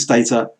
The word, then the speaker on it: Stata: Usually it's pronounced to run with data. This program called Stata, which is, it's the #1 global statistics quantitative methods package.